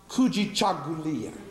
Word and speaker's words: Kujichagulia: And I'd like to reach into those 7 principles and grab one word pronounced Kujichagulia, which means self-determination.